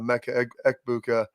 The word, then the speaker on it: Emeka Egbuka: And everybody puts like the G, it's a Emeka Egbuka, and the Egbuka, it's a Emeka Egbuka there.